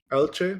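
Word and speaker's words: Elche: Uh, how do you say Eli? El ichi. Elchce. That's how they say in Spanish.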